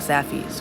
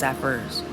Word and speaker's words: Saffy's: The mall would also supposedly, right as of now, has a Stonecrest Book and Toy and maybe a Saffy's, which I mispronounced last time as Saffers, some dumb reason.